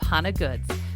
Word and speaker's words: Hona Goods: the business start and that's how do you pronounce it hana goods yeah it's hana good so my last name